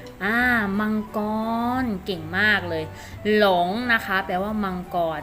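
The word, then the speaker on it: 龙: คำ นี้ นะ คะ อ่าน ออก เสียง ว่า ลอง ลอง นะ คะ ลอง ลอง ให้ ที่ นี้ แปล ว่า อะไร คะ ลูก อ้า มังกร เก่ง มาก เลย หลง นะ คะ แปล ว่า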